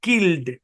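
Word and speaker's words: killed: ই এর কোন উচ্চারণই হইলো না তারপর দেখেন কিলড এখানে ই এর উচ্চারণই হয় নাই তারপরে দেখেন এখানে লেখা প্রিন্টেড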